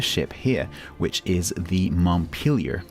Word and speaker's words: Montpelier: here which is the Montpelier to give it its correct American pronunciation which course is a town in Vermont I confess I've been pronouncing it Montpelier up to now until